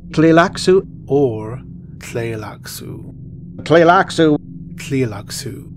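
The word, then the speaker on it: Tleilaxu: interesting pronunciations of this word but it is pronounced relax ooh or play locks ooh play lacto clear locks ooh or play locks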